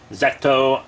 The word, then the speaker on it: ZO: now we're doing his uh predecessor kamen rider zetto or zou i'll probably call him zoe most of the video but zecto is the karenic uh pronunciation so kamen rider zetto is a movie